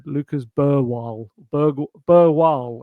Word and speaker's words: Bergvall: Lo and behold a year on and he said Lucas Burwal Berg Burwal. I don't think he said the G did he?